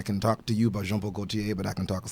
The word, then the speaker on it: Jean-Paul Gaultier: First of all, great pronunciation on Jean-Paul Gaultier, because most people just John Paul Gaultier.